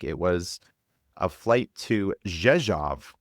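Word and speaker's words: Rzeszów: I think it was a flight to Jezjav, which I thought was Resro, but the pronunciations again, RZ is as a J and the O R O W was off.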